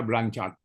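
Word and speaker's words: Blanchard: Dibacanya blanchart.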